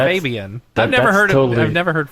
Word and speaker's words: Fabian: He was doing his thing, and I'm like, I'm pretty sure it's Fabian. I've never heard Fabian. So since it's a German name, it's Fabian.